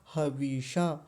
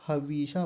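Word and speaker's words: हविषा: है वो है हवशा व पर छोटी इ की मात्रा है बड़ी ई की नहीं है नहीं तो यहां भी बड़ी गलती करते हैं खूब अच्छे खासे जानकार लोग भी और क्या बोलते हैं हवीषा हवीशा बड़ी ई थोड़ा लंबा खींच देते हैं लंबा नहीं खींचना क्या बोलेंगे हवशा हवेशा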